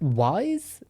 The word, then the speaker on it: Weisz: Is it Wise? Let me Google how to pronounce Rachel's surname because I don't want to get it wrong. Rachel Weisz.